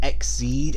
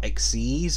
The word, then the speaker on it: Exceed: species are called exceed granted it's pronounced exceed and not exceez but still does sound